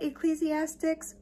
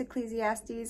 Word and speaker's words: Ecclesiastes: was like holy cow i've been saying this wrong my entire life so it is ingrained in my mind to say it ecclesiastics but i'm aware that it's ecclesiastes and i'm sorry that i said it wrong okay back to